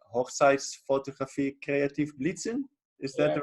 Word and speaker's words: Hochzeitsfotografie kreativ blitzen: I think it's called like Hochzeitsfotografie kreativ blitzen. Is that the right pronunciation?